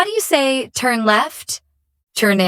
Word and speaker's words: c'est: How do you say turn left?